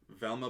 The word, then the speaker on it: Velma: Mayor Velma rhymes with vulva.